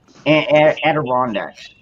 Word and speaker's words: Adirondacks: Adirondacks, I think.